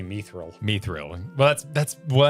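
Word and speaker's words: mithril: probably be wrong, but I always pronounce mether like myths. Like myths of the realm and not like me seeks. We had this exact conversation last week cuz I say Myithil. You say Meil.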